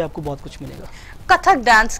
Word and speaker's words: कथक: कथक dance, कथक, इसके pronunciation कथक है। यस, कथक।